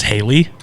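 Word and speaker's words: Halle: Haley Bailey, but it's spelled Hie. H A L L E. But she says Haley.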